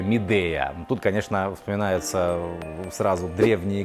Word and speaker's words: Midea: Давненько что-то у нас в обзорах не появлялась техника Midea или Midea, как вообще-то это произносится. Но у нас вот так уже прижилось Midea, а некоторые называют ее Midea.